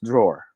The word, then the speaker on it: drawer: in the philippines style we filipinos we tend to pronounce every letter we see in a word so it's okay but now you know that it's pronounced as drawer okay let's go to